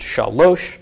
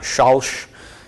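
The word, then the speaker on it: שָׁלֹשׁ: So this is pronounced shalosh, not shalsh. Okay, if it was shalsh, there would be a shva under here. Okay, so it is shalosh for three.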